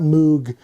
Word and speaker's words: Moog: oh by the way you say at Moog not Moog you always think it was Robert Moog rhymes with Vogue and um he was